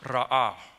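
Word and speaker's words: רָאָה: When you look at the original Hebrew word for that, that word for will provide is pronounced ra'ah.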